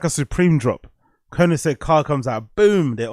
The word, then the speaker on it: Koenigsegg: Oh, that's how you pronounce it. Koenigsegg.